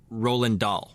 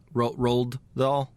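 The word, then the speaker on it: Roald Dahl: all adaptations of uh Roland dll right is that how you say it I think it's roled roled doll yeah okay my bad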